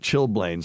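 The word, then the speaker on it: chilblains: lot of this and I'm sure it's a French word pronounce shil blah or something like that but it's chill Blain c h i l b a i ns I never knew how to pronounce it but chillblains and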